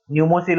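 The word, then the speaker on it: Pneumosil: Okay, न्यूमोसिल और पीमोसिल आप बोल सकते हैं, पी को साइलेंट हम रखते हैं, तो न्यूमोसिल ये आपका इंडिया का वैक्सीन है।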